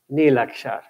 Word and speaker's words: Neelaksha: speaking but i think it's called neelaksha and absolutely correct pronunciation right yes anil action